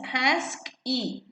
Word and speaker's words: ASCII: and in also mainframes the ascii code pronounced as ask e it is of two